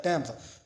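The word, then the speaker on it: Thames: ये river modern नेम से थेम्स है जो कि टेम्स जो है ना प्रोनाउंस किया जाता है टेम्स।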